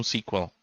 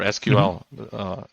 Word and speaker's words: SQL: You may need to know SQL or SQL, depending on how you pronounce it.